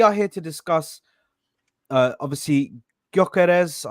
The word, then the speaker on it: Gyökeres: Obviously, Gyökeres. I think that's how you say his name. Gyökeres. The G is silent. Gyökeres.